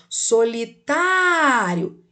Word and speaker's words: solitário: esqueça como aqui ó solitário perceba que o som é o que é aberto né e qual é a sílaba tônica o tá então nós temos aí um acento agudo na sílaba tá solitário agora na letra b